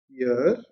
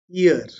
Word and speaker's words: year: So if you were to speak it out, the pronunciation of this word is year and not ear. So year, when it starts with year, you realize that's a consonant sound and not a vowel sound.